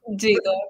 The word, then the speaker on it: Dzido: Is it Dzido or Dzido? Dzido, but yeah, Dzido. It's yeah. You're very, very close to it. The correct pronunciation.